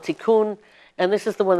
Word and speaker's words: Tikkun: And this one is called Tikkun.